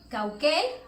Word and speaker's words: Caucel: En Mérida hay un lugar que se llama Cauquel, que también cuando lo vemos de manera escrita, pues se lee como Cauquel, aunque se escriba como Caucel, entre otras palabras, ¿no?